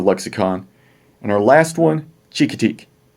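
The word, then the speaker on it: Chincoteague: was in the lexicon and our last one chica teak chicka teak that's where they take the horses there's a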